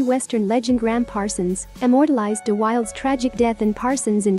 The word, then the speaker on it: De Wilde: De Wilde is pronounced De Wilde. It is still disputed if Brandon De Wilde was gay or straight.